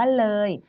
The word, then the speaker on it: เลย: ว่า เลย นะ คะ เป็น เพราะ ว่า มี ตัว สะกด เข้า มา ออ อ่าน ก็ เลย ต้อง หาย ไป ค่ะ แต่ อย่า ลืม ว่า ยัง ต้อง ออก เสียง เออ นะ คะ ฟัง นะ